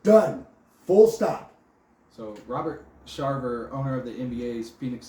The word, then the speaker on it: Sarver: Sarver.